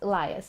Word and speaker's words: Elias: Elias, that's how you pronounce it.